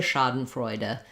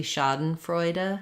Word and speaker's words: Schadenfreude: the ah vowel um first syllable stress so it sounds like Shah um uh for that